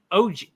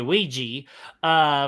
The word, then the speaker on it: Ouija: And then the next one we got OG. My God, okay. Hold on, I'm playing a video real quick. Shame on me for mispronouncing that damn word. It's the Ouija for October 24th of 2014.